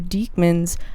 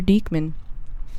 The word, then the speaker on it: Diekman: My uncle pronounces it Diekman. Yeah, I never knew that until like I like this year. Diekman better. Yeah. You're right. Yeah. Well, and my grandmother pronounced it Dickman, so the choice was thanks, clear Grandma. from my perspective.